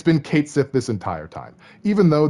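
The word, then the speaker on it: Cait Sith: and and the official Twitter finally said it's Kate Sith it's been Kate Sith this entire time even though there's like Mania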